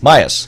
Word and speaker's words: Miass: Myas.